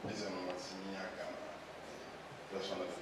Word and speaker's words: Emomotimi Agama: My name is Emomotimi Agama. Just wanted to pronounce it properly.